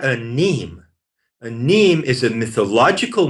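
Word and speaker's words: mneme: A neme is spelled M-N-E-M-E. A neme. It's pronounced neme.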